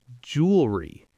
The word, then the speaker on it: jewelry: Word number 2 from our quiz, jewelry. Jewelry. Normal speed, jewelry. Repeat after me. Whoa, it's only 2 syllables, not 3? Jewelry. That feels so different to say. It does, but it's correct.